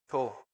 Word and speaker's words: 초: Segundos se dice cho.